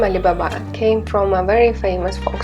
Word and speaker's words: Alibaba: The name Alibaba came from the famous fold story One thousand and one nights and in Chinese it pronounces in the same way: alibaba.